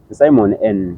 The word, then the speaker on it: Simon N: Is it Simon N or it's Simon EN? Simon N. That's the real pronunciation. Yeah, the real pronunciation is Simon N.